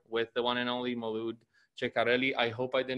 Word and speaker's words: Ceccarelli: Although since I work with internationals, they usually do not know that the C in the beginning of an Italian term is pronounced ch. So they usually say Molood Ceccarelli.